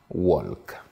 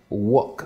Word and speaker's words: work: sorti les lettres alors il dira walk alors que il faudrait dire work work et qu'on écoute